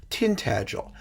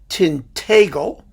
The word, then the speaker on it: Tintagel: you may say it differently now the normative pronunciation as far as i understand it is tintagel but in north baxia they call it tintagle and and in in east baxia it's it's tinted gel and you know there are many many ways